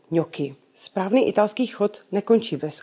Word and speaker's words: gnocchi: Často slýcháme gňoči, kňoči. Už víme, že spřežka CH v kombinaci se samohláskou I se vyslovuje tvrdě, takže ki. Stačí nám teď vědět, že N v kombinaci s G vyslovujeme jako české ň. A už správně můžeme vyslovovat a přečíst slovo pro knedlíčky jako gnocchi.